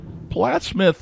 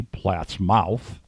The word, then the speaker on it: Plattsmouth: flows into the missouri hence the name plattsmouth or phonetically platt's mouth but we all call plattsmouth and i went down